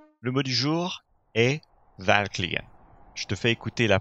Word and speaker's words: verkligen: Le mot du jour est verkligen. Je te fais écouter la prononciation native. Verkligen. À toi. Verkligen. Verkligen. Tu vois qu'il y a une pause juste après avoir prononcé la consonne V.